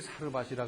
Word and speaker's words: 사르밧: 여기 사르밧이라 그랬는데 이것은 히브리식 발음이고 사렙다라는 말도 있는데 이것은 헬라어식 발음이고 이 같은 장소를 말하는 겁니다.